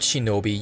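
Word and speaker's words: 忍: moving on the word Shinobi utilizes the same nin Kani alternatively pronounced here as Shino with the sound B attached to it in hiragana form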